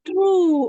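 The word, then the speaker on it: through: t h r o u g g Oh true Oh Bacanya apa itu karena susah bacanya true ya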